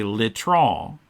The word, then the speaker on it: litron: The last letter in a French word is usually not pronounced, I think.